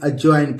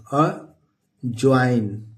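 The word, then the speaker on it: adjoin: जे ओ आई एन इसको D silent है अजवाइन पढ़ेंगे अ जॉइन क्या पढ़ेंगे दोस्तों अ जॉइन डी यहां पे साइलेंट है इसको पढ़ेंगे अजवाइन एडियर माने दोस्तों होता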